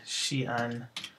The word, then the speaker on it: Xi'an: apostrophe apostrophe for example the city Xi'an has two vowels next to each other and two syllables so it should have